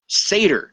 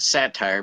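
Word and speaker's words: satyr: out to be as as how do you pronounce it saer Sater Sader yeah Sader not sat not saer not satire but seder who is H H half man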